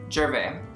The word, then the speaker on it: Gervais: Gervais. Gervais. It's actually French, but the S is silent.